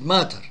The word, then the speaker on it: mater: Mater, one T. One T, mater. And pronounced matter, but the matter is a substance, double T.